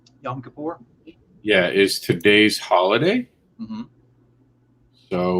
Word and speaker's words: Yom Kippur: is and i'm uh definitely trying to uh pronounce this right young kippur yom kippur yeah is today's holiday so we just want